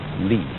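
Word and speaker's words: 理: And that is a word which originally meant the markings in jade, the grain in wood, or the fiber in muscle, and it's pronounced li.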